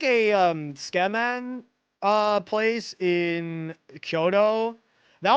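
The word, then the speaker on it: tsukemen: I'm trying to remember my favorite Oh, we had like a um Skeman uh place in Kyoto.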